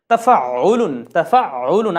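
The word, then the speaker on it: تَفَعُّل: এই যে বাবে তাফাউল, বাবে তাফাউলুন, উচ্চারণটা আমরা অনেকে যারা নতুন তারা কিন্তু উচ্চারণটা একটু কঠিন হবে। তাফাউলুন, আইনে তাসদিদ রয়েছে।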